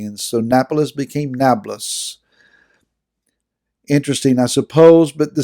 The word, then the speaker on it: Nablus: napoles in italy but they don't pronounce the p but rather use the letter b and so napolis became nablus interesting i suppose but